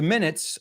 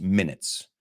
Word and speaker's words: minute: Eso es minutos como 1, 2, 3, como tiempo. So, esa sí que es minutes. Pero el momento que dices pequeño, no muy importante, it's minute.